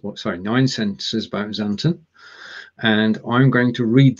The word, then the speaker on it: Xanten: the whole alphabet and this place is called xanthan oh we tried we tried this before and my pronunciation is going to be close possibly okay